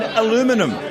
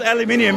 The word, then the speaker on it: aluminium: what Americans say and aluminum odd tell me about it it's called aluminium because it's spelt aluminium correct correct yeah if